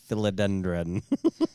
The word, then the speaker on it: philodendron: Can you please pronounce philodendron? Well, now I know how to say it. There's no M at the end.